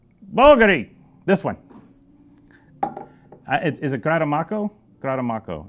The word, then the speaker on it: Grattamacco: See, when I was younger, I would say Grattamacco, but it's actually Grattamacco, I believe. I never know where to put the right accent on the what syllable.